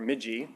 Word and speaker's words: MIGI: new and and multi-dimensional approach termed microbiome inspired green infrastructure or migi as I've pronounced it it's not my construct